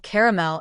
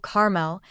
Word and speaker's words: caramel: Is it two syllables or three? Are you on team CL or are you on team caramel? This is a case where regional dialects play a huge role. While the three-cllable caramel is arguably more faithful to the spelling, the two-cllable caramel is extremely common, especially in the Midwest and West.